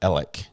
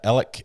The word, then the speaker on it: Alex: murder podcast pronounces it elec Murdock according to the locals yeah Alec is is how a lot of them say it but it's spelled Alex um we've heard it